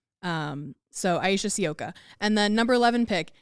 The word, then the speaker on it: Sivka: But, uh, the sky pronunciation guide is Sioka. Um, so Aisha Sioka.